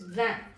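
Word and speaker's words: vingt: Then comes the last number for the day, that is van. Here the letter G and T are silent, so you should not pronounce it.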